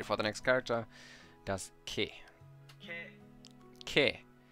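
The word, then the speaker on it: ケ: Das Ke. Ke. You pronounce this as ke, like in the word kept.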